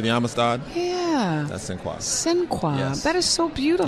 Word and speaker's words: Sinqua: Ladies and gentlemen, the man who plays Don Cornelius on American Soul, it is Sinqua. Sinqua. Sinqua. What does that mean? So Sinqua is the French pronunciation of Sinqebi, and Sinqebi was the king that led the slaves to the Supreme Court for freedom.